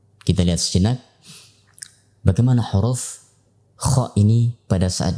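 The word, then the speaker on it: خ: Itulah hams, ya, yang mengikuti huruf kha pada saat diucapkan. Yang kedua, ditinjau dari tekanannya. Maka ditinjau dari tekanannya, huruf kha termasuk huruf yang ringan atau huruf rokhawah, sehingga ia mengalir pada suara, tidak bertumpu kepada makhrajnya.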